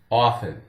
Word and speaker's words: often: This word is frequently mispronounced. Many people will say often, often, often. And generally, we consider it to be pronounced correctly as a silent, with a silent T, as often, often. So off, F-N, often. Really, this one can go either way.